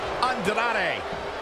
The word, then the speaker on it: Andrade: The Scottish psychopath Drew McIntyre versus El Idolo Andrade. I'm surprised you pronounced that right, Cole.